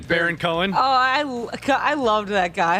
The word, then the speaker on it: Baron Cohen: Baron Cohen.